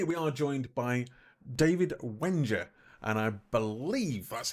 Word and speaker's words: Wengier: bit so today we are joined by David Wenger and I believe that's how you pronounce it he can actually rate me later